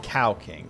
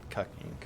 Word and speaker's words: Cow King: Yeah, it's it's pronounced cow king TTS, not cuck.